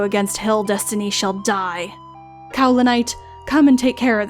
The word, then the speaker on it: Kaolinite: to call it, that she's actually named after a mineral called Cowlinite, so I've been pronouncing her name wrong the whole time.